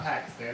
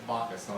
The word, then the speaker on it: Pakistan: It's not Pakistan, it's Pakistan. It's a soft P. It's almost like a B.